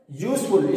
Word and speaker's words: useful: Dear students, just see, the word useful start with the vowel letter U, but the pronunciation of this, the sound of this word start with the Y. That is not vowel. That is not vowel. That is consonant.